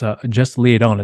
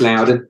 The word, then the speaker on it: Loudon: name as well too, and just Leodon, I think is to pronounce his last name. Is that right? Just Loudon. Loudon, thank you.